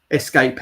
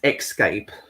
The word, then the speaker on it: escape: that really adorable how some people people um pronounce escape as xscape how would you say that escape because that's the way there's no x in it so i always find